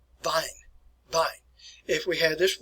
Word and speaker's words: Wein: If we pronounce this word as vine, I'm talking about wine.